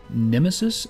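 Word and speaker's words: Nemesys: i'm assuming it's spelled it's a pronounced nemesis because it's spelled n-e-m-e-s-y-s using the uh always cool convention of replacing an i with a y so i'm going to assume it is in fact pronounced nemesis these guys are from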